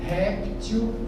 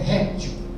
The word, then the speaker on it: réptil: Se não tem acento é reptil. Se tiver acento é eh é é réptil, né?